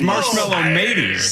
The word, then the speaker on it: Marshmallow Mateys: By the way, people are mentioning that Marshmallow Matties is spelled Mateys, so it's got to be mateys. Oh yeah, It's a ship reference. So it's Marshmallow Mateys.